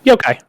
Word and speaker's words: Yokai: Am I pronouncing that correctly? Is it Yokai? Yeah, Yokai. Yokai.